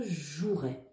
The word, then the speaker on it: jouerai: celui-là parce qu'en fait on entend pas le E on écrit je jouaai mais en fait ça se prononce je jouerai donc là c'était le